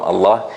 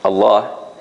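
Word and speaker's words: الله: this word Allah right it's always soft except when it comes in this word Allah that sometimes it will be soft sometimes it will be heavy or strong only in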